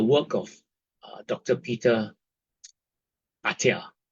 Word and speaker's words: Attia: Peter Ata. Okay, ata is spelled a tt i a.